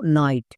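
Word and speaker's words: night: চলো এবার দেখে নেব 3 নম্বর ওয়ার্ড প্যাটার্ন IGHT, এর জন্য উচ্চারণ হয় আইট। যেমন এক্সাম্পল দেখো নাইট, এখানে শব্দের শেষে ওয়ার্ড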